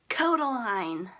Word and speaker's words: Kodaline: so much my next artist is called Kodaline pronounced Kodaline just saying anyway they're from Ireland and I